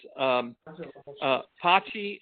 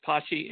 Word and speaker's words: Patxi: but his name is Pachi, and it's spelled Patxi, and it's pronounced like bocce ball, except it's Pachi, and Pastor, Pastor.